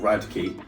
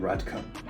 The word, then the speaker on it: Radke: I believe that's how you say his last name. I think somebody broke it down for me phonetically, like Rad and then Key. But yeah, I had no idea how to say that before. I was saying Radka. Ronathan Radka.